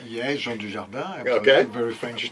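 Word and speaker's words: Dujardin: how you would say his name yeah Jean dardan very French name yes yeah it's my third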